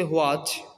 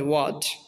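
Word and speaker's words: watch: আমরা আগে পড়ছি হোয়াচ, হোয়াই, হয়ার। এটা মূলত ভুল উচ্চারণ হবে ওয়াচ, ওয়াই, ওয়ার।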